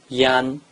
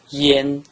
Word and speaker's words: yan: combined with the vowel an it is not pronounced Yan it is pronounced Yen Yen the pronunciation of yen is just like